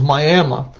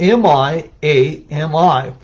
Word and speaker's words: Miami: And it's interesting, the folks in Oklahoma refer to this as Miami, but it's spelled M-I-A-M-I. So folks in Florida, Miami, and Oklahoma, it's Miami.